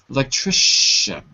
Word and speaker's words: electrician: bring to class tomorrow you can write CI TI equals sh and example electrician okay it's a good